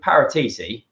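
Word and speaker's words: Paratici: is we do parrots people don't realize with parateeti as i was actually pronounced believe it or not i got top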